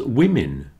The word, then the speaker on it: women: As does women. Business, women. You see that all those vowels sound like I's.